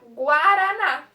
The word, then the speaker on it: Guaraná: Sempre que tiver o A ou o O, ele não vai ser mudo. A gente vai falar ele. Igual na palavra Guaraná.